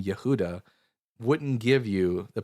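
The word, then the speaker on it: יהודה: So in Hebrew Judah is spelled Yudhe Vallet hey which in Hebrew which is actually pronounced as oh yehuda.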